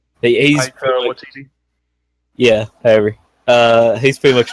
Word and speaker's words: Waititi: Taiki Waititi. He's Waititi.